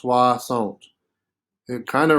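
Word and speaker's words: soixante: swasant swasant right remember anytime we see o i together it's pronounced wah so it is pronounced suasont it kind of rhymes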